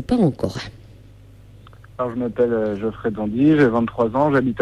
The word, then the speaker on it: Jeoffrey Dandy: Est-ce qu'on prononce bien ton nom déjà ? Oui, Geoffrey Dandy, c'est ça.